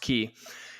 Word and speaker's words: quay: from the key key it's spelled Quay but pronounced key and it says and